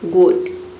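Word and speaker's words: goat: और यहां पे ओ ए को हम ओ पढ़ेंगे। किसी भी वर्ड में ओ ए एक साथ आता है तो उसे ओ पढ़ा जाता है। ओ ए दोनों को मिलाकर और टी को हम ट पढ़ते हैं। ये हो गया आपका गोट।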